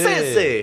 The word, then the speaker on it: Scorsese: Parce que en même temps, vous savez pas écrire Martin Scorsese, je l'ai retrouvé sur je sais pas j'ai